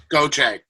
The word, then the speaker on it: Gauthier: say your last name go check think of it as g-o-c-h-a-y go che yeah i would not have